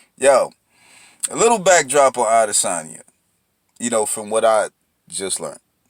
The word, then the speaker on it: Adesanya: Israel Adesanya. I believe that's how you say his name.